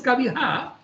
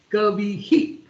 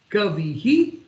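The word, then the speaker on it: कविः: But when the same Visarga comes at the end of a letter, or the word called Kavi, it is not pronounced as Kaviha, it is pronounced as Kavihi.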